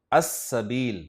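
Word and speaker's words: السبيل: जिससे लफ्ज शुरू हो रहा है सबील, सबील पर अलिफ लाम दाखिल होगा तो लाम को नहीं पढ़ा जाएगा, अस-सबील।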